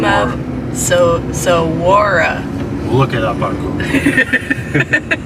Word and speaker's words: Saguaro: Alright, so I brought up the pronunciation. Saguaro. Saguaro. Saguaro.